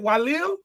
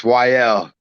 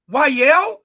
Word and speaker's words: Walel: Is it Walel? Nah, man, it's YL. YL? Yes, one of the L's is silent.